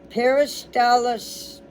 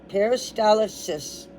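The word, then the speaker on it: peristalsis: Paristalis. Paristalysis.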